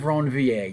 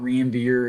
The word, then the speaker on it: Ranvier: And these are called the nodes of Ranvier. You have to say it like that. It's not Ranvier, it's nodes of Ranvier.